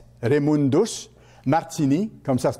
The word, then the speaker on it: Raymundus Martini: Raymundus, ça s'écrit R-A-Y, M-U-N-D-U-S, Raymundus Martini, comme ça se prononce, M-A-R-T-I-N-I.